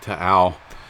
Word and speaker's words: Taal: Volcano TAAL is how you pronounce it. I looked it up. I had to do a double check, but I thought it was TAAL, but I guess it's like TAAL.